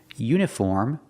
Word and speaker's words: uniform: But if I use the long U sound, example, uniform, U phonetically starts with a consonant sound, like in yellow, U, uniform.